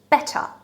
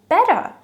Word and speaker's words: better: as well anyway um when a standard British speaker if you ask them to pronounce better they will probably pronounce it just like that better but then if you listen to them in the flow of speech they may actually say better um so use this tap t instead of the especially when